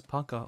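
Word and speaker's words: пока: 34 easy bro get on my level oh pronounced as Paka okay so how lost are we okay Paka we're not uhhuh hey have a little faith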